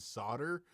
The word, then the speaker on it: solder: with soldering irons and solder for years my father-in-law is a master at it i've never even imagined that the l would be pronounced it just doesn't make any sense uh mike russell's from